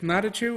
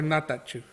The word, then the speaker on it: Natachu: last name um it elroy be two ways not a true or not that two so a t turned into a d well first of all